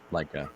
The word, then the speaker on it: Leica: of mine a old I think I keep pronouncing it wrong. A Leia Leica Q Leica.